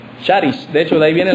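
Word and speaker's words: χάρις: escritura es una palabra que en griego se pronuncia Sharis de hecho de ahí viene la palabra carisma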